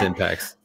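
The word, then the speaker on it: Impaxs: Can you please pronounce the name of your company? Yeah, I love that. It's Impacts.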